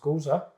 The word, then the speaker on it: Gose: Says this is our interpretation of Gose, pronounced Gose, a traditional German-style wheat beer brewed with coriander and salt.